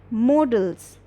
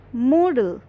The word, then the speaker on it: modal: are coming to the main topic which is models it is not modal it is not model it is not model it is modal modal okay say it three times and you